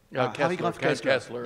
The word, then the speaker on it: Harry Graf Kessler: Harry Graf Kessler.